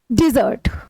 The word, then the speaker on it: dessert: डिजर्ट, okay, pronunciation का आप जब ध्यान रखते हैं तो आपको बहुत सारी चीजें क्लियर हो जाती है।